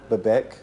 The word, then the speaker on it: Bebek: Bebek.